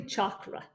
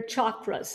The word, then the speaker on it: chakra: channels and what are sound channels they're really chakra channels what are chakras it's not pronounced chakra it's pronounced chakra and what are